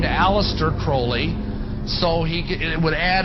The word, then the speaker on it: Crowley: about was Alistair Crawley he likes to have his name pronounced Crowley to rhyme with holy and uh the satanists